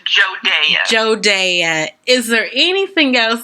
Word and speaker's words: Jodea: It is pronounced Jodea.